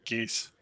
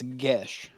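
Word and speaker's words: geas: I've always pronounced it geese, like, Hong Gas. Kong. So I looked it up because I was curious. And it's Gesh, like as in Gesh. Weird. It's Irish.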